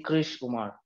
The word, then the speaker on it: Krish Umar: And now he is Krish Umar. Not and much difference. Sorry, how do I pronounce it? You can just say Krish Umar.